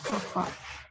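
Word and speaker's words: κ: Ini dibacanya kappa.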